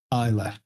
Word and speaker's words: Ilsa: should probably be pronounced Isa. Isa. I L SA. So, it should probably be Isa.